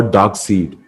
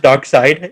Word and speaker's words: Darkseid: side or dark seed? Side, side. It's pronounced dark side. It's spelled dark seed.